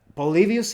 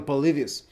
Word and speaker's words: Polybius: The Roman historian Polybius, if I remember correctly, because in Spanish it's Polibio, but that's probably Polybius.